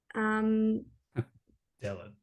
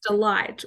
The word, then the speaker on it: Dellit: Some people, Matt would always say that people would mistake the pronunciation of our last name, which is Dellit, Really? as delight or delete.